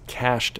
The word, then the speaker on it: cache: The next thing that appears is cached memory. Cache is pronounced just like money, C-A-S-H, just spelled a little differently, isn't it?